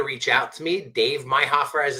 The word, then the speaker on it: Meihoefer: feel free to reach out to me Dave myher as it's spelled I don't know if they could see my name but it's uh Dave DAV and then my last name my Hofer which is spelled meih h o e f is in